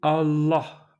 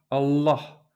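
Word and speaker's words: الله: Si vous voulez sonner vraiment authentique, il faut prononcer Allah, Allah, Allah, avec un L emphatique.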